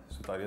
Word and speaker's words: Sutaria: Sutaria, that's how you pronounce her name.